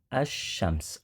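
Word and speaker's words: الشمس: Ada yang menyebutkan karena pembacaan huruf lamnya sama seperti kita membaca kata asyams. Lamnya tidak terdengar. Berbeda pada materi sebelumnya, pembahasan alif lam qamariyah, lamnya terdengar jelas, al-babu. Kalau pada kata asyamsu, bunyi lamnya tidak terdengar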